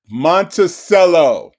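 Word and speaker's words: Monticello: And then um Dina, she got Monttoello is how you pronounce it, dumbass.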